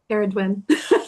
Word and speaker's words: Ceridwen: Eridwin. Yeah. Spelled C E R D. And and but it's like the C is a hard K. It's not an S sound.